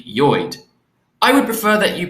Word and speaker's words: Lloyd: see of course that the correct pronunciation of lloyd is actually joid i would prefer that you pronounce my name correctly now that we are man and wife please call me joyd from now on good